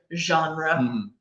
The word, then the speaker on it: genre: pronunciation of this word remember that it's French so Jean run excellent all right guys